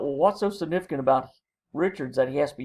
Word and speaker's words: Richards: The second question asks you to look at a very specific use of character Richards, or if you go with the French pronunciation, Richard.